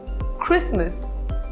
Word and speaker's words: Christmas: It is not exactly a rule, but there are some words in which the letter T is silent. For example, often, fasten, listen, Christmas, castle.